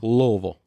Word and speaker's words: Louisville: said it right cuz it's not Louisville Louisville Louisville yeah Louisville like just think l v Louisville